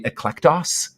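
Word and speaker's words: ἐκλεκτός: Greek is interesting um it's actually eclectus is how you'd pronounce it and it's where we get our word eclectic from and so I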